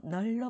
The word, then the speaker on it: 넓다: 자, 원래 리을 비읍은 앞에 있는 리을을 발음해야 돼요. 원칙이라면 널쩍하게가 맞아야 되잖아요. 그런데 넓다의 경우에만 이런 규정이 있어요. 자, 기본형은 넓다로 읽어요. 널로 발음하지만, 널로 발음하지만, 자, 넙죽하다, 넙둥글다, 넓적하다는 넙으로 발음한다. 자, 넓다만 그래요.